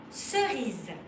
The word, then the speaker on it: cerise: If C is before the letter E, I or Y, then you will pronounce it S. Let's start. For example, cerise.